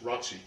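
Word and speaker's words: ROTC: with three red bayonets Roc kills pronounced Ry kills from here inside time seems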